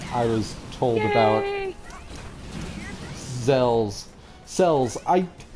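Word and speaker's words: Xels: Cells. So they're called cells, but they're spelled with an X.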